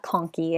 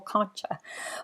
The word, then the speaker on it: conchae: uh to the inferior nasal conkey it's pronounced conky but i know that that doesn't help a lot of students remember it as conchi but just so you know it is pronounced uh conky if you end up you know you're in